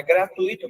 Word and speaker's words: gratuito: Mas esse U e esse I, se não tem acento, a pronúncia dele é grudadinha. Se tivesse acento, seria separado, mas nesse caso não tem.